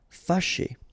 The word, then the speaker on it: Fâché: Remember, C and H together. Sh, sh. And then E, ché. Fâché.